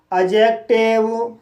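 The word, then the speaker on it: adjective: जैसे अजॉइन, adjust, अजवर, एडजेक्टिव, अजज। तो guys in सभी वर्ड्स में डी के बाद जे आया है, इसलिए डी साइलेंट है।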